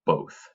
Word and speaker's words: both: see, close, hop, rock, both. Both is considered an oddball because it's a closed syllable here at the end with the TH and it still says a long O.